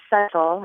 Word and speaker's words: subtle: which I found interesting I guess I say subtle and she says more subtle but it got me thinking about the word why does it have this silent be what are its Origins